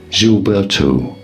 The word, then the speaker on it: Gilberto: In Brazilian Portuguese, it is said as João Gilberto. Gilberto. So it's a Gil. Yeah, Gilberto. João Gilberto. You got to put it in your nose.